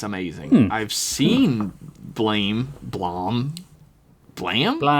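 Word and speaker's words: BLAME!: Um, Bla, which is apparently pronounced Blam.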